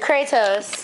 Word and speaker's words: Kratos: Kratos.